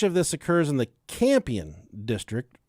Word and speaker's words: Campion: Much of this occurs in the Campion district. I think that's how you pronounce that. It's like champion, but it's missing the H.